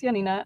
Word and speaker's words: Janina: you already said it right my name is Yanina I'm actually based in Munich in Germany right